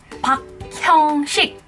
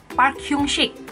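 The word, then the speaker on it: 박형식: Biasa mungkin pada nyebutnya Park Hyung-sik. Park Hyung-sik. Bukan, tapi di Korea sendiri dipanggilnya sesuai dengan Hangul-nya adalah Park Hyung-sik.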